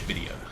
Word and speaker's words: Xvidia: my name is xvidia but you don't pronounce the x it's just video you can't parry me